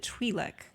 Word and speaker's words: Twi'lek: And Gaia is a Twi'lek, although she pronounced it Twi'lek. That threw me off. I never heard it pronounced like that, and I was like, wait a minute. We looked it up, and apparently it can be pronounced either way, but Twi'lek sounded weird.